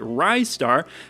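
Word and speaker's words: Ristar: up the fight but I finally decided I wanted to just call it rystar because it sounds like rising star and that makes me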